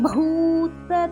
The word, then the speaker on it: பூத்த: யுகளி பூத்த பூ மகாபிராணா BHU. பூக்கு மேல 4 போட்டிருக்குன்னா பூமிக்கு வர பூவை அழுத்தமா உச்சரிக்கணும்.